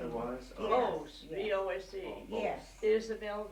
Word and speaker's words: Vose: spell that? Voice was her middle name. It was? Yes. Vose, yes.